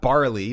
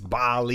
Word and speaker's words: Bali: No, not barley. Not it's not a grain. It's Bali. Bali. No. No. God, you're so British. Not Bali.